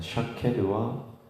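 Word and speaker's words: שָׁקֵד: 그러니까 샤케드와 쇼케드, 살구나무는 샤케드, 지킨다라고 하는 것은 쇼케드.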